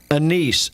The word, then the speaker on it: anise: Are salt, garlic, anise, A-N-I-S-E. Did I pronounce that right?